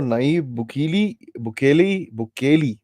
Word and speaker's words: Nayib Bukele: President of El Salvador, Nayib Bukele is that's how it's pronounced.